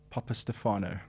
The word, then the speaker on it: Papastefanou: is your surname right your full name please pronounce it yourself Papa Stefano that is that needs to be in lights